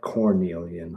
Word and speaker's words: carnelian: Carnelon. Here's how I spell it. C A R N E L I A N. In the old old um texts, you see it called like Cornelian.